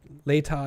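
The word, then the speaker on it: Latah: um later okay later is pronounced later thank you I'm still probably going to butcher that but later later County thanks hungry helmet says I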